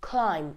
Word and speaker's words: climb: Whenever an M comes before B, the B will be silent. For example, we have Tom, we have comb, we have climb.